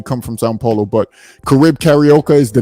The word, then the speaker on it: Carib Carioca: I say Caribe Carioca. He know how I'm saying it. Brazilians mainly carry that B on with the E sound.